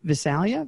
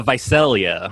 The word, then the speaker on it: Visalia: neck of the woods shall we say uh visalia this is uh viselia vaselia of course yeah you say uh you say it the way keeper sutherland pronounces it and the hitch show 24.